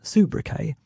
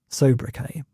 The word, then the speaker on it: sobriquet: We were looking back through the list, and I made the interesting discovery that a word which I thought had always been pronounced soubriquet is actually pronounced sobriquet, but either way it means nickname or the kind of name that attaches to kings.